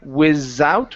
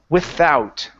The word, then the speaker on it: without: So instead of saying without with a Z, it's without.